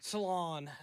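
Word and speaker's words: Salaün: that went High um not Reay not SAR Salon is how you say his last name I'm gonna butcher the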